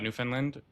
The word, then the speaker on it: Newfoundland: I live in a small town called Lewisport, uh, Newfoundland. New- keep on saying it wrong. Newfoundland, Newfoundland. Understand, Newfoundland.